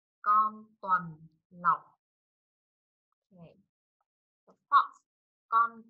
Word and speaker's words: tuần lộc: Con tuần lộc. Con tuần lộc.